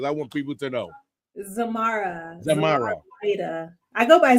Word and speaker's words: Zormarah Lyda: Zormarah Lyda.